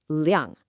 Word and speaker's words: 量: The first character is liang, and it's pronounced liang.